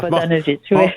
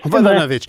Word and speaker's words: Vodanovic: Valérie Plante, Mme Vodanovic, pardonnez-moi. Mme Vodanovic, bonjour. Bonjour, M. Nantel. Bonjour, est-ce que j'ai bien prononcé votre nom? Oui, la deuxième fois, c'était parfait. Oui, c'est ça. Vodanovic. Vodanovic.